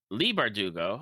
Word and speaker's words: Bardugo: I believe that's how it's pronounced. Leigh. Uh, Leigh Bardugo.